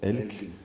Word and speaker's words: Elg: Elk, ouais, que je prononce Elk, ouais, qui veut dire l'animal, l'élan norvégien, ouais.